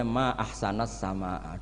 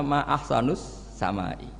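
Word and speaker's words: ما أحسنَ السماءَ: Saya ini kagum langit begitu baik mestinya bacanya ma ahsanas samaa duhai begitu indah tapi dia bacanya ma ahsanus samai.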